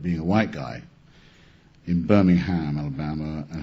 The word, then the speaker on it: Birmingham: I believe he's from Birmingham, Alabama. That's how they pronounce Birmingham.